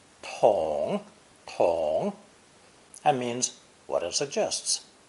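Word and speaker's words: 桶: true bucket or pale it's pronounced third tone Tong Tong that means what it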